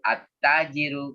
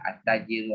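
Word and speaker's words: التاجر: Al-babu, at-tajiru. Kalau ini alif lamnya nggak dibaca. Nanti kalau dalam ilmu qiraah namanya alif lam syamsiyah. Ya kan? Al-babu, alif lam qamariyah, at-tajiru, alif lam syamsiyah.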